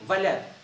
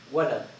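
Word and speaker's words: ولد: You say Valad. And that's on the cards. When you play cards, okay, the Walad, I put the Walad. You know, that means the kid, the boy. But the proper pronunciation is Walid, Walad.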